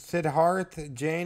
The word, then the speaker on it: Siddharth Jain: Creator mastermind behind this game how do you pronounce is Sidharth Jane as I pronounce it there we go today